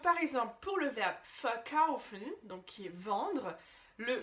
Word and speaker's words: verkaufen: Et là, verkaufen, c'est vendre, donc verkaufen, d'accord? Là, je l'ai un peu accentué pour te montrer le fin, le particule, mais c'est bien verkaufen, d'accord? La prononciation, l'accentuation est bien sur le kaufen, verkaufen.